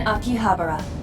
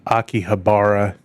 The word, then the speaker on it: Akihabara: Approximately 6.2 mi northnortheast in Akihabara. So, that is not the way I would have pronounced that before I heard someone say it. I thought it was a Akihabara, right?